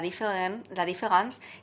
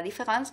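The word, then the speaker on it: différance: que sabéis que es la différence, que en francés se pronuncia igual que la différence escrito con E, de la diferencia.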